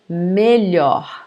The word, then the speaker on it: melhor: Melhor, melhor. Ruim, pior. Grande, maior. Pequeno, menor. So notice the pronunciation because it's, for you guys, it's very close. So here, the comparative of bom is melhor. It's open, okay?